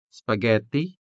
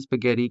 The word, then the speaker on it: spaghetti: So the E in spaghetti could be sounded with the original E, spaghetti, or it could be interchanged with the native Hiligaynon E.